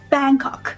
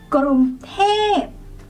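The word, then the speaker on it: กรุงเทพ: one is Bangkok tight people do not say Bangkok we say gr say in midtone and then when you say tap go falling Grom T Grom t the next one is when you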